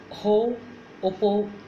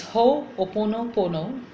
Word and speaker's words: Ho'oponopono: And one of the most beautiful practices in Hawaiian shamanism is called Ho'oponopo. I always sometimes get confused with the pronunciation. Okay, so it's Ho'oponopono.